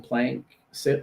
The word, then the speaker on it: PlankSip: that helps people remember the name PlankSip as in a 2-syllable name. Plank is an organic platform, like a piece of wood, right? So we're like, okay, yes, organic platform, piece of wood, that works good. Sip, PlankSip together.